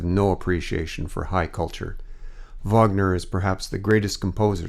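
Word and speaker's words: Wagner: you like Vagner she pronounced the composer's name as he would have said it himself and pushed out the first syllable harshly don't know much about Vagner Olga the most I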